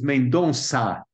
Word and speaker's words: Mendonça: The pronounce is Mendonça. Mendonça.